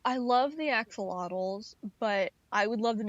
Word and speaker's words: axolotl: I know an axolotl. Sorry, I should pronounce my T's. The axolotl.